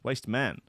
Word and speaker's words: Waste Men: the correct pronunciation. Waste Men.